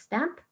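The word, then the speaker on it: Stannp: a we it called stamp it's although it's spelled with a letter N it's actually pronounced as stamp and it's where your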